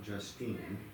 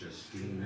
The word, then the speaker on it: Justina: It's not Justine, it's Justina.